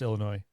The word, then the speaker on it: Illinois: yeah the uh the state of Illinois it's pronounced Illinois that was close their their listenership has jumped